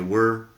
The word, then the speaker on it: were: Pronunciación, debería mencionar que were no es igual que where.